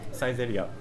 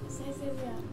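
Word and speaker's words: Saizeriya: there you're good so how you pronounce it size 8 up si8 up yes so cheap so cheap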